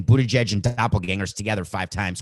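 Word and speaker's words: Buttigieg: uh pete mayer pete whose last name i always pronounced wrong buddha judge may be his name they are doppelgangers try saying bootage and doppelgangers together five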